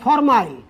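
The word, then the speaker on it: formyl: হিসেবে ব্যবহার হবে তখন এর উচ্চারণ হবে ফরমাইল ফর মাইল অর্থাৎ প্রতিস্থাপক হিসেবে যখন কোন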